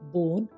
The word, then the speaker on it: bone: अब तक तो आप समझ ही गए होंगे कि आखिर में आया ई हमेशा आवाज़ नहीं देता, वो मूक होता है, साइलेंट होता है। BONE बोन, यहाँ ई का कोई स्वर नहीं आ रहा।